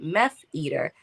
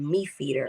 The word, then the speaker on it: MEFeater: girls they'll call it me feeder or they'll take out the E and just call it or m-e-f eater and um I was like let's pronounce it like meth right because at the